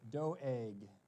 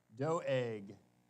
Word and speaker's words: Doeg: good guy so uh I looked up the Hebrew how do they pronounce it and he said doeg like that doeg so there you go